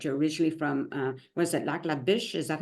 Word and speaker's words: Lac La Biche: Facebook page that you're originally from, was it Lac La Biche? Is that how it's pronounced? Lac La Yeah, Biche, Lac La Biche.